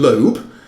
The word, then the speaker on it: Loeb: which is midway between the correct pronunciation Loeb, which is the Americans still say that is correct, and Loeb, which is how it tends to be pronounced in the UK, which I gather is wrong.